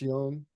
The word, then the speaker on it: Jung: Just young. It's good. Young. Yeah. Yeah. Yeah. No, it's looking like good. The Jung. Well, the J's sounds like a Y.